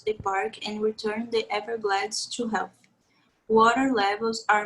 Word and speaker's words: Everglades: We say Everglades. Everglades. Yes, you mentioned glads. It's glades. Okay, Everglades.